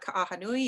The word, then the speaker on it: Ka'ahanui: my last name there it's ana ahanui you gotta pronounce everything in hawaii um and i currently